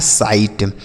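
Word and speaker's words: sight: एस आई से हम पढ़ेंगे साई। और जी एस टी को पढ़ना है ट। यह लिखा है साइट।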